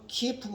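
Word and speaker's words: Киев: 하고 키우 공국이라고도 하고 우크라이나 식으로 발음하면 키 이후 공구 러시아 식으로 발음하면 키예프고 공국이라고 하는데 그 12세기 13세기에 그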